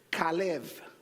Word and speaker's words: Caleb: Sí, en hebreo la B larga se pronuncia como la V corta para nosotros. O sea que es Caleb.